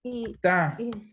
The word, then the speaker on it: città: las palabras del italiano, todas las palabras que Ujú. cargan el acento en la última sílaba llevan tilde. Por ejemplo, la palabra università. Chita. Città.